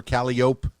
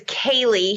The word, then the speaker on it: Kalii: all right well okay i do have to ask callie is that short for calliope no and you know i'm terrible i never correct people on how to say my name but my mother always gets mad so it's kaylee she wanted it to